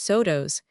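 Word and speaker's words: Saulteaux: The party of Indians who had joined the hunters with Victor and his comrades were Salto, pronounced sodtos, and the bitter enemies of the Sue.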